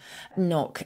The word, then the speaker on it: knock: So we've spoken before about the silent K in words like a knight in shining armour, knitting, knock, and that kind of thing. Originally, we did pronounce the K there.